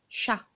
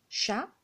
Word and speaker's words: chat: Si vous avez remarqué ici, on a le T. Elle est écrite en gris, on ne le voit pas parce qu'on ne le prononce pas.